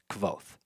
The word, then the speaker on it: Kvothe: We're talking about Kavoth. Kavoth. Um, there's been a lot lots of different ideas on how to pronounce his name. Rafs calls him Kavoth.